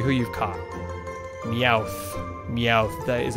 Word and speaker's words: Meowth: it tells you who you've caught the ow Meowth that is how you say that normal scratch